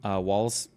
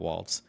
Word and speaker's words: Walz: Did we play that Tim Walz? People are saying, I'm saying his name wrong. It's Walz and not Waltz.